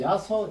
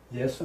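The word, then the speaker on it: 耶穌: 되고 임이 있자 임의 야소 이거는 예수 이거는 뭐 앞에 여러 번 나왔고 예. 야소 우리 발음은 야소 중국 발음은 그대로 예수 이 중국서 번역된 거기 때문에 예. 그대로 중국 발음 그대로 예수입니다.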